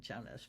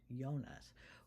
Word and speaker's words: Jonas: Um, so Hans Jonas, sorry I said Jonas, but it's actually pronounced Yonas, was a German American philosopher who wrote the phenomenon of life in 1966.